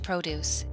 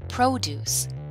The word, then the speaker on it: produce: I need some fresh produce. Do you want to go to the farmer's market? Pronunciation. Noun. Produce. Fruits and vegetables. Verb. To produce. To create or engineer something.